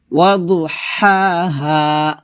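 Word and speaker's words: وَضُحَاهَا: তো শামেসি বলা যাবে না, বলতে হবে ওয়াশামসি শামসি, এভাবে ওয়াশামসি ওয়াদুহাহা।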